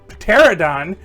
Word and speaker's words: pterodon: Swoop, a pterodon, trying not to pronounce that P, is a classic member of the Dinobots built in the second wave with Snarl.